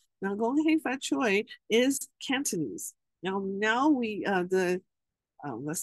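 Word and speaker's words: 恭喜發財: You might have heard of this expression, the saying before, gong hei fat choy. Now, Gong Hei Fat Choi is Cantonese. Now we let's say the Mandarin pronunciation is Gong Qi Fa Cai.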